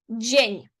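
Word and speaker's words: dzień: Значить буде джень. Не дзень добре, а джень добрий.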